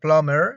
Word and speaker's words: plumber: latest in this case the last letter b is silent remember that in these words any words such as plumber you don't say plumber you say plumber you